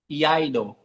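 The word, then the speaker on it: Iaido: Yaido. What's how do you say it? Sorry. Eido.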